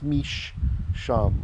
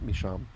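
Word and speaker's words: משם: with two l's here the sheen has a strong dagesh telling us there are two sheens there so it's mish sham originally like this right so meesham although we today just pronounce it misham so from there who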